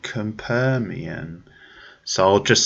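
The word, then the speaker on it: Capernaum: tale and that is this Lebanese film called kam permian so I'll just spell that for you it's c.a.p er na um that's compare Miam and it's the latest from the Dane the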